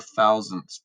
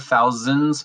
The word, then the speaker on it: thousandths: of that we have the thousandths place notice it has that at the end it's not the thousands place it's not the hundreds